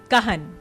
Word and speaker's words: Cahn: pronounced. Kahan.